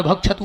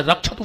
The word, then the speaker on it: रक्षतु: दुर्गा सप्तशती में हमारे शास्त्री जी बैठे हैं, जो गुरु मुख ने हुई है, वो एक मंत्र पढ़ा थे भार्य भक्षतु भैरवाम, जबकि शुद्ध उच्चारण है भार्य रक्षतु भैरवाम।